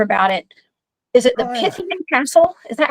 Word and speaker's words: Pythian Castle: Is it the Pythian Castle? Is that how you pronounce it? Yeah, Pythian Castle was built by the Knights of Pythias in 1913.